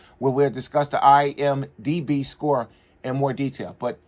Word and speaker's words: IMDb: I've been saying IMBD. One of my subs pointed out. I know what it is. I just was saying it wrong. It's kind of a tongue twister to say fast the right way.